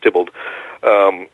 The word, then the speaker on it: Theobald: one of his pseudonyms looks like Theobald but it's pronounced Dippold so he liked to